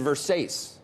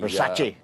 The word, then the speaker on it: Versace: Kors Jimmy Choo and verse ace apparently Versace oh oh oh I'm sorry did I say did I mispronounce that anyway and what